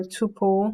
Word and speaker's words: tuple: A string is hashable, a tuple is hashable, or tuple if you pronounce it that way.